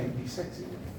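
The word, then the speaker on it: IPsec: Bacanya IP si ya, IP.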